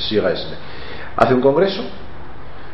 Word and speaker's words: Suresnes: En 1974, el Partido Socialista hace en Francia, en una ciudad que se llama, o sea, se escribe Suresnes, Sigaesne, hace un congreso, y entonces en ese congreso cambia la ejecutiva nacional.